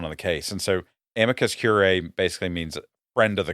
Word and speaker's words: amicus curiae: We now have a motion from the ACLU of South Carolina, and they want to file a brief of amicus curiae.